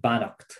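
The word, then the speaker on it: beannacht: something in particular i'd recommend a poem called banacht it's a that's an irish word for blessing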